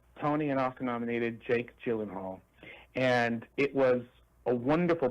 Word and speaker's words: Gyllenhaal: Jake, I can't ever pronounce his name. Gyllenthal. Gyllenhaal.